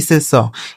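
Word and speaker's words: sauce: इस ए और यू का उच्चारण अ हो गया। सी ई से स।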